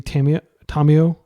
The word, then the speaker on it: Tamiyo: I'll use the Japanese pronunciation since people are always giving me a hard time about my pronunciation of Fairy Macabre, which is how you pronounce it in French. Macabre, I think. But at the same time, like as a Japanese speaker, I should be actually pronouncing Tamiyo correctly instead of just how I hear everybody else say it.